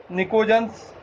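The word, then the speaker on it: pnictogens: निकोजन्स, PNICOGEN। यहाँ P silent रहता है, इसीलिए हम इन्हें निकोजन्स कहते हैं।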